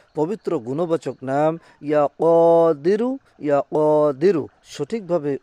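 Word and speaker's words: يا قادر: ইয়া কদিরু সঠিকভাবে উচ্চারণ করবেন, ইয়া কদিরু।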